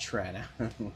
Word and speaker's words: Toronto: It's pronounced Trana. Trana. Yeah. Toronto.